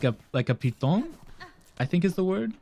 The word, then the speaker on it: piton: Yes, this is so a word originally from French, and in French it's piton. Piton. This is why in English it's normally pronounced piton, not python.